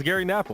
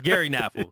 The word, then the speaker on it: Gary Knafelc: phonetically. It's Gary Knafelc. I wanted to see if you knew. Now I'm unsure. It's Gary Knafelc.